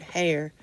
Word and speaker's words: Hare: It rhymes with mayor, so then I remembered Hare.